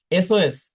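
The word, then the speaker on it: SOS: তো এরকম এসওএস, এটা আমরা একসাথে সস উচ্চারণ করছি না, আমরা বলছি এস ও এস।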